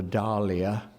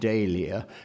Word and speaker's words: dahlia: knew perfectly well that it should be called a Dahlia as in Roald Dahl but at the same time he wanted daihlia partly because it had become the pronunciation and partly because what